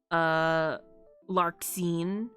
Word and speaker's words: Larxene: I'm putting the X here, but so many of the names pronounce it like Z, like Xehanort, Larxene.